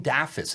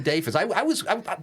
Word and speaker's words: Daffis: by the way, it's Daffis. It's not Dafis.